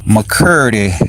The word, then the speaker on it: McCurdy: McCurdy rhymes with Purdy.